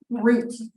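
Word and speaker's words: gruit: They were using something called Groot, which, yes, it sounds like the character Groot. It's fruit spelled with a G.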